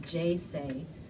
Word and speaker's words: J-Sei: going to be at a place called JC and that's spelled J - SEI j SE sentir it's